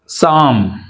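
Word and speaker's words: psalm: లియోపార్డ్ అనకూడదు right లెపార్డ్ coming to silent P సామ్ ఇక్కడ సామ్ అనాలి అంతేగాని రైట్ పి తోటి సామ్ అనకూడదు సామ్ psychology P silent psychology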